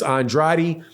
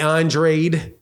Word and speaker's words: Andrade: No, for sure I'm going to be buying this pay-per-view, is that you have guys like Demetrius Andrade or Andrade.